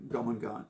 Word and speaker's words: Jormungand: I recommend Jomangan. So it's spelled Jormungand. That's Jor, that's Mungand. Jomangan.